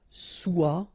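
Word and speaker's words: sois: Okay, then of course être and avoir, so être will become soit, remember final S is not pronounced, soit, then soyons, soyez, alright?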